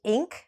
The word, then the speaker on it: Inc: ltd in short and this one is sometimes pronounced Inc or otherwise you say the whole term which is incorporated okay so let's just